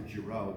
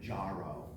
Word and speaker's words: Gero: They wanted me to pronounce Dr. Gero, because there's songs saying, I'm Dr. Gero, and then she wanted it Jaro, and I was like, no, it's not Jaro.